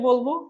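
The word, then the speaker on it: باء: ঠোঁটের ভিজা অংশ থেকে বলবো এবং এক আলিফ টেনে বলবো।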